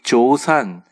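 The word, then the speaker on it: ζῶσαν: 이 소망이라는 말이 엘피다라는 말이고 살았다라는 말이 조산이라고 발음합니다. 헬라어 표현에서 이 조산, 살아있다는 것을 시제로 표현하면 현재 분사형이에요.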